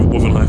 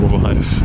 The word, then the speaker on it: Rotherhithe: Surrey Quays, I know Wothenhithe a little bit. I keep calling it Wothenhithe instead of Rotherhithe, but I think it's just me mispronouncing it.